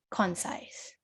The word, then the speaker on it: concise: rule what sound does the letter c makes then so it makes this sound okay it makes this sound so it would be pronounced as con size concise okay okay all right